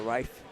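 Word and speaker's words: Riffe: Riff. I'm going to say Riff. R-I-F-F-E. It has to be Riff. I mean, she looked it up, man. It's pronounced like knife. So Rife.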